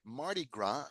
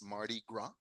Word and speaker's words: Mardi Gras: Mardi Gras, que no pronunciamos la S, es un festival francés, Mardi Gras.